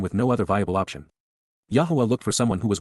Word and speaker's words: Yahowah: Yahowah, Yahowah, God's personal and proper name, pronounced, Yahowah, based upon Haya, to exist, examines the genuineness, Bakon,